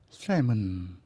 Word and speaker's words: salmon: on the hill is clear against the sky salmon salmon เป็นคำ silent l เราคือ l ไม่ออกเสียงจึงเป็น salmon ไม่ใช่ salmon thousands of young salmon